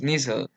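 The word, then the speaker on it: Nissl: y la sustancia inicial mucha gente pronuncia sustancia en inglés y no es así es ser su pronunciación es nissan entonces lo podrían encontrar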